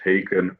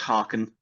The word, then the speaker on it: Haken: And it is pronounced Hen like it rhymes with bacon.